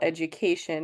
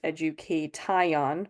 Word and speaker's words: education: So for example, education is not pronounced education, which would be the case if it were phonetic. If the letters matched the sounds, we would say tion, not shun.